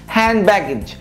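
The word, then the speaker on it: hand baggage: عشان الاثنين كونسنت ساكن فهخطف الدي بسرعه كده لانها اللي في النص، يعني ان دي بي، هنشيل اللي في النص بسرعه، هاند باجج هاند باجج، مش هقول هاند باجج هاند باجج هاند باجج.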